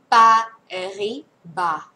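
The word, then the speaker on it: Paribas: พยัญชนะ เลย นะ คะ เบ แน เป ปาริ บา นะ คะ เสียง S ลง ท้าย ไม่ ออก เสียง เบ แน เป ปิา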